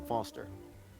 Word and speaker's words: Foster: so it does I'm Foster I'll remember that easy because your name rhymes with fossil and your old thanks